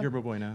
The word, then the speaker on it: Yerba Buena: In 2012, Yerba Buena Arts Center, is that how you pronounce it? Is that right? Yeah, Yerba Buena Center for the Arts.